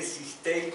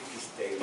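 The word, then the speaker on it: Cisteil: Se escribe Sistel, pero sé que se debe decir Quistel, allá ellos.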